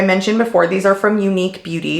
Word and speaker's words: Eunique: play like I mentioned before these are from unique beauty it's spelled e-u-n-i-q-u-e again out of the UK these